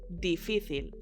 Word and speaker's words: difícil: Difícil. With an accent on the middle I.